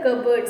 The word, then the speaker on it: cupboard: The pronunciation is cupboard, and P is silent in the spelling of cupboard.